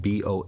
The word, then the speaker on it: bho: What's interesting is you said it's spelled B O H. I think the Italian spelling of it would be B ho like bo like o.